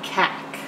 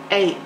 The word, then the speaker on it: cake: three sounds eight a now that would be cack so we need an e on the end to make the a say its name cake ache cake okay like